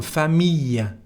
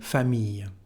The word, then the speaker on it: famille: Here, the sound is I, and it's a rule, famille.